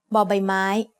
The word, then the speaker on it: บอใบไม้: The third consonant you'll learn today is บอใบไม้ ใบไม้ means leaf. As the initial consonant of a syllable, บอใบไม้ makes the sound b like the B in bucket.